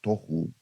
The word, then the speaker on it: tohu: de lo que era el tohu y el boju eh algunas personas le llaman el tahu y el baju pero realmente la pronunciación es una pronunciación hebrea que se refiere y